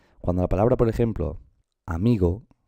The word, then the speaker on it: amigo: Mirad, cuando la palabra, por ejemplo, amigo, el acento recae sobre esta sílaba, sobre la sílaba mi, ¿vale? Y nos dice que es una palabra llana. Amigo, porque está acentuada la penúltima sílaba.